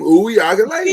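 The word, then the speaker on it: Uiagalelei: That's the name, Uyagalele. DJ Uwe. And I know that's the pronunciation because I got it directly from Dabo Swinney himself when we interviewed him. Oh, he should know. Right. If anybody gonna know, it's his head coach. So I know that my pronunciation is correct.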